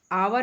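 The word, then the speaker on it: hour: आवर, आवर यहाँ से हम एच को छोड़ दे रहे हैं, एच साइलेंट है।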